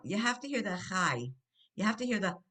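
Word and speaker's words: חי: Now, you have to hear the chai. You have to hear the yeh on this. This is one of those words. Chai. Oh. Chai means life, and you hear that yud kind of sound chai.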